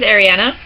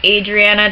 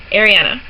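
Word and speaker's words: Arianna: My name is Ariana. It's spelled A-R-I-A-N-N-A. It does not have one N, it has two N's. It is not pronounced Adriana, despite what everybody seems to think.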